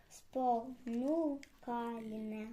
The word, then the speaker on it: спонукальне: Спонукальне. А тепер з наголосом спонукальне. Ще раз.